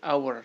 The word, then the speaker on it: hour: Hai karena ketika dibaca huruf H ini tidak diucapkan karena pengucapannya menjadi our Hai yang muncul di